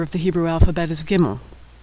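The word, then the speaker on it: gimel: The third letter of the Hebrew alphabet is gimmel. Gimmel makes the sound of the hard G in good or girl, never the soft G in general or bridge.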